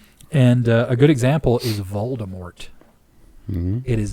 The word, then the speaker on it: Voldemort: In all the movies, they say Voldemort, but according to whatever her face is, because like if you listen to like the audiobooks, it's Voldemort. Huh. The T is silent.